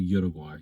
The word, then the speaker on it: Uruguay: a lot more in fact they enjoyed watching water guy play or Uruguay depending on how you want to pronounce it and they offered a lot more